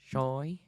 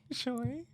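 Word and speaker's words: Chuy: Choy. Choy.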